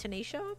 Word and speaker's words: Tanisha: Uh, my name is pronounced Tanisha, but you can say tan if it's easier.